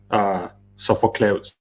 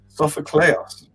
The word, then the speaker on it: Sofocleos: So it's Angelos with a hard G. Angelos, right? That's correct. And then Sophocleos. Sophocleos.